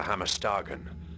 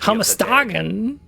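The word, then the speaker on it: Hammerstagen: This text explains how to get to Hammer Stagen, the city. Hamastagen. I'm sorry. I've been pronouncing it wrong the whole time.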